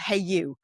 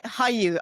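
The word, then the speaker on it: hayu: Bravo content through a a streaming platform called Hey you. That's how it's pronounced.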